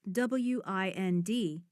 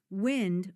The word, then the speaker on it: wind: The word spelled w i n d is another homograph and I knew it it would be the next word and right the next word will be poolograph. It can either be pronounced wind or wind.